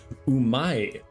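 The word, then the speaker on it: うまい: it tastes real good if you want to say it tastes good you say umai but if you're a hip and cool kid you leave off that last syllable and you just say um but the way you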